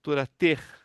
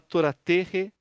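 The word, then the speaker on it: תורת: É, na verdade assim é que a pronúncia correta é torater. Torater. Mas se falar toraterre também dá para passar. Mas é turat.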